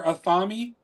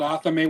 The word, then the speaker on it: athame: We made our when I hear it in my head, I hear athami, because that's what my dad called it. It's called athame, whatever, however you want to pronounce it.